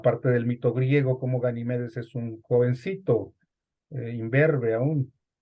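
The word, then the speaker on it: Ganímedes: famoso ganime de animedes es la forma correcta de pronunciar el nombre del aguador ganimedes pero lo encontramos con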